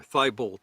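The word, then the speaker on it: Tybalt: between mercutio romeo and tebow or thibolt as they often say but it should be pronounced tubo so uh mercutio and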